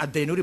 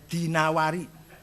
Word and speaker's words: Dinawari: Wias Ibnu Qutaibah Adinawari jangan addinuri bacanya ya dinawari jangan addinuri enggak ada kota Dainur ada dinawar dinawar he al-asmaai enggak Ada Asmui Asma Azzabidi bukan Zubaid.